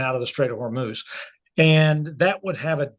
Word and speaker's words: Hormuz: Um, is it Hormouth or Hermouth? It's Hormuz with a Hormuse.